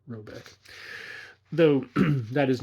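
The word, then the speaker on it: Råbäck: question is to be called robek note here pronounced something like robek though that is not his name it is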